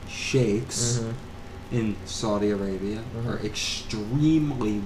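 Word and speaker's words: sheikhs: the Sheiks and Sh some of the shics and shakes mhm we we'll say it correctly shakes in Saudi Arabia are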